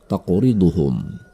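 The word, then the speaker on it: تَقْرِضُهُمْ: Ada huruf qaf mati di tengah kata tersebut. Ini adalah qalqalah. Cara membacanya adalah dengan memantulkannya dengan pantulan kecil. Taqriduhum.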